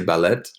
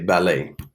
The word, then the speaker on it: ballet: Okay, say ballet. Right, we give it the same pronunciation like in French. We don't pronounce the T at the end, right? We don't say ballet, we say ballet, right?